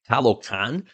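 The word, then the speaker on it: Talokan: or actually I look this up so I pronounce this right talocan like the underwater realm of Namor that was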